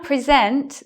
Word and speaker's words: present: We now present the star of the show.